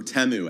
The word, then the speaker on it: Temu: number four um uh was teu or temu as we all Learned was how to pronounce it last yesterday they ran